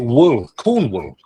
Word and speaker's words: Cornwall: But you pronounce it wool, Cornwall.